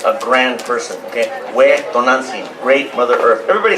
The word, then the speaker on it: Tonantzin: Not Tonantzin, Tonantzin.